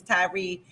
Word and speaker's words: Tyre: his last name, but I think his name is Tyree. It's spelled Tyre.